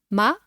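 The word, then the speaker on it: 骂: ma which means horse with a falling tone it means to swear or to curse Ma and finally you can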